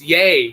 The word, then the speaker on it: Ye: It's Yay. You gotta say Yay.